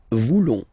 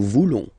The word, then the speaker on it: voulons: Then for nous, classic ending, ONS, don't pronounce the S, just pronounce the on. Nous voulons. Nous voulons.